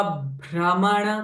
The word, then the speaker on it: भ्रमण: रूपा विश्व भ्रमण कारिणी अगेन भ इ कंज साउंड विश्व भ सो प्रेसिंग इफेक्ट विश्व भ्रमण काण ल दिस प्र साउंड ल हैव प्रेसिंग इफेक्ट विप प्रिया विप्र रूपा